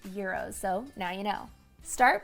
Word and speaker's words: gyros: Now I know that some people struggle to pronounce this. So is it gyros? Is it euros? It's actually pronounced euros.